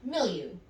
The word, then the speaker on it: milieu: Number 7, you have milieu. It might look like it's pronounced milieu, but it's actually pronounced mildew.